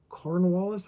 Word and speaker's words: Cornwallis: Historical connection represents the final major military campaign, the siege of Yorktown in 1781, forcing the surrender of the British general Cornwallis, I think is how you say it.